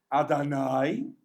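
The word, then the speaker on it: אדני: It's rhyme. This is rhyming. The Shem Hashem is meant to rhyme with the words ma'adanai and dinai. So what do you think it sounds like? Oi? It doesn't sound like oi.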